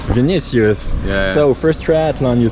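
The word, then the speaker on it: Vinícius: how do you say your name excuse me vinicius vinicius yeah so first triathlon you told me it's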